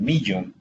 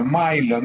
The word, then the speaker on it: Millon: una prueba que llama el Milon, el Millon, porque se escribe Millon, no se pronuncia Milon.